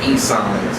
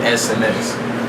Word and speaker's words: eSineS: sms is spelled e-s-i-n-e-s everybody keeps on saying e-signs but it's really sms so all right so